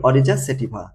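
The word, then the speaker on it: Oryza sativa: ঠিক আছে এরকম ভাবে আর এটার উচ্চারণ হবে কি অরিজা সেটিফা এই যে তোমাদের উচ্চারণে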